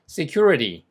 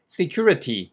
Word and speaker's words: security: security security 이렇게 실제 원어민이 하는 소리가 들려요. 그리고 안전이란 뜻. 그다음에 얘는 발음을 일부러 큐어리어스 이렇게 할 필요가 없어요.